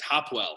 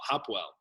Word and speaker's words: Hopewell: saying like you know people always mispronounce our name it's hopwell hopwell and he goes oh